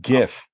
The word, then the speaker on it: Jif: Is it Jif peanut butter? It's pronounced GIF.